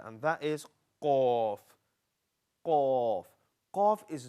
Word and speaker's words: qaf: Now, I know some of you try to pronounce qaf, but it comes out as k. Makkah, like Makkah. Yeah? Makkah. And the reason that you pronounce qaf as kaf, because you're pronouncing it slightly further down, and this is where kaf comes from.